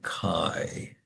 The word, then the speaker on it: chi: So kai is actually a Greek letter. Let me show you what it looks like. It's basically a fancy x. It's spelled chi, but it's pronounced as if you're saying kai.